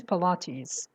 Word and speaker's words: Pilates: That's Pilates. The pronunciation is Pilates.